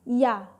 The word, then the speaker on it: ja: Contohnya adalah ya. Penulisannya adalah J dan A, tapi dibacanya ya.